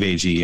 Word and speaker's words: Agee: With Aggie, with Steve Agee and James Gunn. I'm never sure how to say his last name. It's Agee. It's definitely Agee. Definitely Agee. I've heard it a billion times on different shows and whatnot.